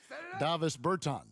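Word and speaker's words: Dāvis Bertāns: Davis Bertans. Davis Bertans?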